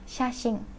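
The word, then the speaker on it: 写真: Jadi kalau orang Jepang nyebut di ujung itu biasanya mendengung, shashing, bukan shashin. Jarang menyebut sashin mereka itu jarang, tapi mereka lebih sering menyebut dengan kata shashing, seperti itu ya, bukan si tapi shi, shashing.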